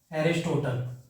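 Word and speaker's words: Aristotle: ठीक है, इंग्लिश में अरिस्टोटल बोला जाता है, मतलब अगर आप प्रोनाउंसिएट करो तो एरिस्टोटल।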